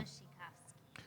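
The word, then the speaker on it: Wasikowska: Yeah, Polish name. It starts with a W, but it's pronounced Yeah. Vushikov.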